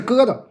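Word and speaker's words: 疙瘩: 疙瘩的正确发音是疙瘩。两个字的音调都是一声，疙瘩。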